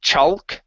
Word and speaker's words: chalk: is the L okay so typically whenever you see an A L together that L is going to be silent so instead of chalk chalk Rock it's chalk